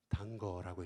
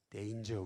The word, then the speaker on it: danger: 최불암이 뭐라고 읽었어요? 단거라고 읽었지 않습니까? 단거가 아니고 뭐죠? 데인저, 위험인데.